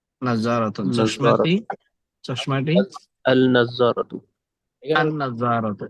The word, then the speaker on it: النظارة: النظارة চশমাটি النظارة এখানে আন নাজারাত। এখানে লামটা উচ্চারণ হবে না, নাজ্জারাতুন। আন নাজারাত।